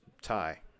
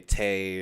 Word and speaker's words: Ty: to meet you well my name's Ty I mean my YouTube name says it but yeah that's how it's actually pronounced a lot of people will say Tay or whatever but yeah my name's